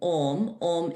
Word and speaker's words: Om: But actually, like when you're chanting Om is the universal sound. So it's made up of three syllables, or, and and you gently transition from each.